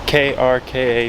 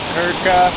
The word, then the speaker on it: Krka: I do not think I'm pronouncing that right. It's Krka National Park. Yeah. It's supposed to have beautiful waterfalls, beautiful hiking, and everything like that. Krka.